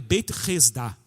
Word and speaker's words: Beit Hesda: Em aramaico, Betesda, a pronúncia correta em aramaico é Beit Hesda.